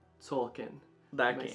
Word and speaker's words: Tzolk'in: Tzolk'in. Tzolk'in.